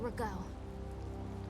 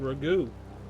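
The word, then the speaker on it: Ragou: I'm going to go see Magistrate Rego. It's pronounced Ragu.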